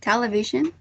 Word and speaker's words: television: according to the transcription the first syllable should be the most prominent of the four syllables so television yes um the only difference is in terms of super sequential feature some people say in some not telly television but that's the only difference uh but the uh stress syllable should be the first one i think that's mine